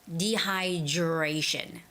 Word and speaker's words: dehydration: but you know when the D and the r sound are put together it sort of sounds like the J sound so it's got to